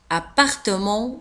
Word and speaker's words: appartement: l'escalier escalier l'escalier الشقة appartement l'appartement تكتب بدو P P P A l'appartement l'appartement ولاحظوا كذلك على أن في آخر الكلمة نجد الت ولا تنطق لا نقول appartement نقول l'appartement appartement appartement رددوا معي